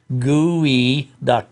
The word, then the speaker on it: geoduck: the name is pronounced gooey doct just like gooey yeah I think I